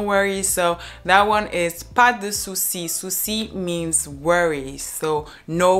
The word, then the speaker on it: pas de souci: People would not say pas de souci, but they would rather say pas de souci, pas de souci. So you almost don't hear the E in de, pas de souci.